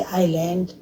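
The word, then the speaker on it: island: जैसे आइलैंड, आइल, तो इसमें एस से पहले आया इसलिए ये साइलेंट हो गया।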